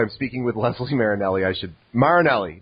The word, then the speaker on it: Marinelli: Marinelli, not Marinelli.